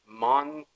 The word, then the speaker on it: Monast: His name is Sergey and I think it's Monast. Monast or something like that. That might be the wrong pronunciation.